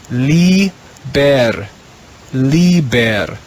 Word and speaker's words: liber: the blue row the first word is two syllables herba means plant or grass the next word in the blue row is li ber liber the word liber means book the last word